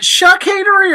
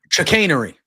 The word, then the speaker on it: chicanery: Is it Chuckanery or Chuckanery? Chicanery. I thought it was Chuck. I was thinking the same thing. I was like, I've been saying it wrong too. I was like, is it Chuck or Chuck? Wait, what? Is it Chuck or Chuck? No, it's chicanery.